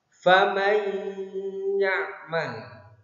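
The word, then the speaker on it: فَمَنْ يَعْمَلْ: Cara bacanya faman ya'mal. Nun sukunnya masuk ke dalam huruf ya. Faman man. Kenapa dibaca idgham bi gunna? Sebab ada nun sukun bertemu dengan huruf ya.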